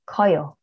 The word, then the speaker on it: 커요: 크다 plus 어요 will become 커요, not 커요.